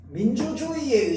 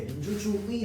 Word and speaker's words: 민주주의: 첫 음절 이외의 의. 왜? 민주주의 할 때 얘는 지금 네 번째 글자에 온 거잖아. 맞죠? 자, 그러니까 얘 같은 경우에는 어떻게? 의로 발음하는 것이 원칙이지만 뭐로도 발음이 가능하다? 이로도 발음이 가능합니다. 자, 그러면 얘 어떻게 발음 가능합니까? 의로도 가능하고 이로도 가능합니다. 자, 다음 여기 있는 의는요 뭐에 해당합니까?